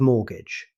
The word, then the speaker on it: mortgage: Mortgage next, we have mortgage. Here's another word with a silent letter. Although there's a T in the spelling, native speakers never pronounce it.